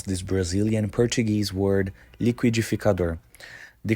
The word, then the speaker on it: liquidificador: you how to pronounce this Brazilian Portuguese word liquidificador the correct pronunciation is lior once again liquidificador however this can vary by region for example